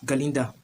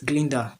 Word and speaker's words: Galinda: was a good right he wouldn't pronounce galinda properly so he was pronouncing it Glinda gler right because of